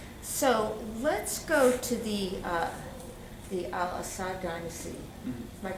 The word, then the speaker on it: al-Assad: So let's go to the Al-Assad dynasty. Mm-hmm. Am I pronouncing it right? Al-Assad, yeah.